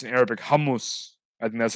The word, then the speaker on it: hummus: I think how um I think in Arabic you pronounce it hamus um hummus is like the angle way to said humus like okay thing what